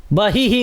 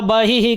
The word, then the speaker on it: बहिः: तो ई है अंतिम में, तो बहिः, बहिः कंठे, इस तरह से हम उच्चारण करेंगे। नीलग्रीवा बहिः कंठे नलिकां नलकूबरी, स्कंधयोः खड्गिनी रक्षेद बाहु में वज्रधारिणी।